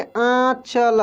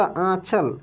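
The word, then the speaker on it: आँचल: चांदनी उसके बाद देखिए आचल आचल ये इसका उच्चारण नाक से होता आचल चांदनी समझ रहे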